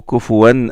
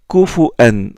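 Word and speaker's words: كُفُوًا: Mais il marque une pause entre le tanwin et la hamza qui la suit.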